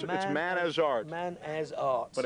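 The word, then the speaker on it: Manazrt: And one of them's holding the album, Too Much Pressure, it's Man as Art. Man as Art. But it's spelled sort of as one word.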